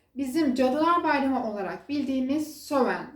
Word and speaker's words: Samhain: Cadılar Bayramı olarak bildiğimiz söven sen hey şekilde yazılıyor Biz sowen diye telaffuz ediyoruz bu bayramın özelliği bugünün